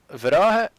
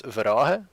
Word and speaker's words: Verhage: Verage, you actually pronounce Verage because I'm from the West Flanders, but my last name is Verhage, and we have troubles talking about the H and the G. We flip them.